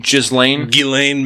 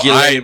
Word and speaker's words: Ghislaine: So how do you pronounce her name? Ghislaine Maxwell. Ghislaine Maxwell.